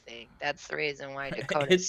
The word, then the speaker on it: Dakota: But I mean, the actual, how you pronounce his specific name is actually Dakota. It's not Dakota, it's Dakota. Yeah, but that sounds stupid. Yeah, but that's how it's pronounced in the Lakota Sioux language, is Dakota.